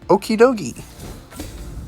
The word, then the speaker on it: Okidogi: Sandshrew, Spinarak, Enforced Hammer, Ninetales, Frogadier, and Okidogi. Sounds like Okie Dokie.